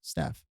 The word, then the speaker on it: STF: if you omit the E, it's STF. So it's actually pronounced Steph.